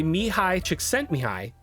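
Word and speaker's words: Mihaly Csikszentmihalyi: Flo by Mihi Chicken Mihi. Yeah, that's that's how that's pronounced.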